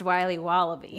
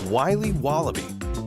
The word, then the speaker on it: Wiley Wallaby: Wiley's wallabies wallaby Wally's will be wobba beats pronounced Wiley wallaby well it's very good it's called Wiley wallaby and it's delicious every day thousands of